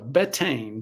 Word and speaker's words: Betaine: Betaine, betaine, depending on how you pronounce it.